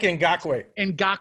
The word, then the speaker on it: Ngakoue: How do you pronounce his last name? Yannick Ngakoue.